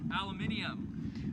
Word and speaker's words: aluminium: Joe Crawford says it's pronounced aluminium.